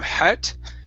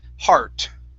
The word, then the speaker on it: heart: next up is heartbreaking give me a good r sound here instead of hat heart heartbreaking very nice and you're